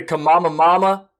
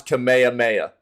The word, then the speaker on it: Kamehameha: They kept calling it like the Kamama Mama and the Kamimi Mimi and stuff like that. They had no flipping clue how to pronounce Kamehameha.